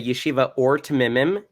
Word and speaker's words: Yeshiva Ohr Tmimim: ethics at i'm sorry can i can you pronounce that correctly i don't want to butcher it sure a yeshiva or to mimim in israel which is a little village that